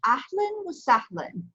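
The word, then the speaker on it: أهلا وسهلا: Okay, so it's pronounced ahlan wa sahlan.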